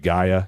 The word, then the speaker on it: Gaia: I think I'm pronouncing that right. Gaia, is that the right?